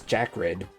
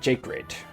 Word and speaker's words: Jacred: I mean, mine is uh I pronounce mine as Jack Red, like Jack and Red, but apparently when I follow people on stream, some of them pronounce it Jacred, like like Jake Paul, but no, I don't get it from Jake Paul. I get it from Jack Black.